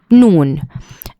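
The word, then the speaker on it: نون: The next letter is noon and it's a light letter and it's uh the same letter as the letter in the word no.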